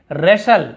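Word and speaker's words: wrestle: फिर यहाँ पर W भी साइलेंट है, ठीक है, क्योंकि R के साथ यदि W है तो साइलेंट होता है। यहाँ पे रेशल, हम क्या बोलते हैं,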